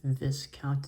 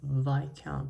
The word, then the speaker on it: viscount: um because there was someone who actually let their name be pronounced as Viscount instead of VI count but there are so